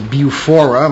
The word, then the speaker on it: BUFORA: the British UFO research Association otherwise known as Beaufort my pronouncing that correctly yeah and an accredited investigator